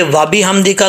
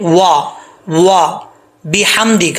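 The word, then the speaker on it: وبحمدك: وا بِحَمْدِكَ، با زیر بی ہوتا ہے، با زیر بے نہیں ہوتا۔ وَبِ، ہا میم زبر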